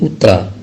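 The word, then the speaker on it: утро: Selamat pagi, bahasa Rusianya dobre utra. Nah, dalam tulisan dobre utra, yaitu utra, itu terdapat huruf O, ya, terdapat huruf O. Dalam huruf O itu tidak diucapkan, tapi diucapkan A, maka menjadi utra, ya.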